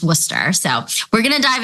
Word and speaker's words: Worcester: She is the Assistant Director of Admissions, but for everyone out there, it's also fondly known as WPI, even though it's pronounced Worcester.